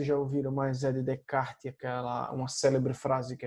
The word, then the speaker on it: Descartes: mas ele tá escrito de Castro porque a pronúncia francesa né isso que a gente a gente chama de cada bom então de kart está quem trouxe a dúvida para o ambiente